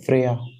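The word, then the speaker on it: Freyja: नड और दूसरे थे फ्रेया इनकी स्पेलिंग ऐसे लिखी जाती है फ्रेजा ठीक है और तीसरे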